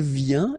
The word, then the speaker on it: vient: Then il vient, exactly the same sound because final T here is not pronounced.